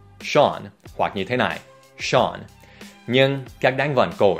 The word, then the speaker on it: Sean: Và cuối cùng, một tên có phát âm rất kỳ lạ. Ở đây không phải Sean, cũng không phải Sane, mà là Sean.